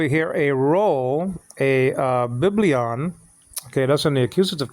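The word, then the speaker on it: βιβλίον: and there okay okay so b b on biblion okay not biblion no because your cuute marker is not on the first syllable so the cuute marker looks like um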